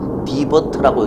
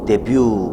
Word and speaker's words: debut: She made her debut. 디버트라고 읽지 않습니다. 데뷔.